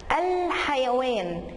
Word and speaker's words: الحيوان: الحيوان، الحيوان انا وقفت برضو عندها، يبقى دي لام قمريه.